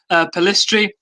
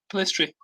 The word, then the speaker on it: Pellistri: forgotten his name already, Facundo Pellistri, and Amad Diallo on deadline day.